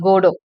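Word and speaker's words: Godot: Waiting for கோடோ, இது pronounce பண்ணுறது டி வந்து சைலண்ட்.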